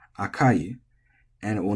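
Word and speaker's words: 赤い: And so you would say oishii, but maybe akai as flat, and you say akai as flat.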